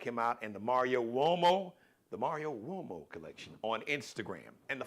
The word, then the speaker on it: Uomo: Check him out and the Mario Uomo collection on Instagram and the Fly Ball collection. So Mario Uomo. So the Uomo is got the what? Like the W-O-W-O-Y sound, but it's actually an Italian surname, Uomo.